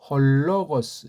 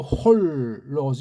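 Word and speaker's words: ὁ λόγος: 따로 하면 호 로고스. 연독하면 홀로고스. 예, 이런 어떤 연음의 원리 그런 것들이 큰 소리로 읽다 보면 빨라지다 보면 자연스레 되는 겁니다. 근데 연음한다고 홀로고스 이건 더 틀린 발음이 돼요. 홀로고스, 헐로고스, 헐로고스. 그러니까 여기 호에 붙는 리을 받침은 슬쩍 기름칠하는 구실이다.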